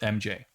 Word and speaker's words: R?MJ: mj except it's pronounced the r question mark silent it's pronounced mj um oh yeah there